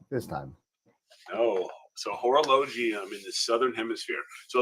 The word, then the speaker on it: Horologium: go all right so constellation horologium is actually horologium is what is is how it's actually pronounced thank you so much because I am usually good with that and apparently not this time oh so horologium in the southern hemisphere so let's go ahead